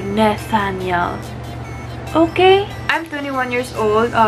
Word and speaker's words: Nethanial: name is is Nathaniel so maraming nagkakamali ng pagpronounce ng last name ko May nagsasabi na Nathaniel Nathaniel blah blah blah ang pagpronounce po nito ay Nathaniel Okay I'm 21 years